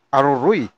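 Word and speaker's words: Aroroy: ang suspect na si alias Arman residente ng LP City Batangas sa tubong Aruroy Masbate. Ganyan po yung bigkas niya no Aruruy. Aruruy yung iba eh.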